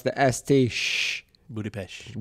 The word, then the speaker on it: Budapest: which it looks like Budapest but apparently you pronounce the Estee sh Budapest Budapest and David was like I really need some